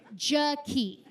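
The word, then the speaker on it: Jakee': Not Jackie, Jackie. It's spelled J-A-K-E-E'. Extra. You guys, the apostrophe in her name does not do anything.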